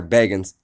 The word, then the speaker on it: Bagans: quote-unquote zak bagans sorry bagans it's literally spelled Baggins be pronounces at bagans but that that's a